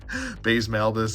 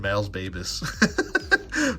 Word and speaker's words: Baze Malbus: Baze Malbus. I almost said Mal's Babus. Baze Malbus.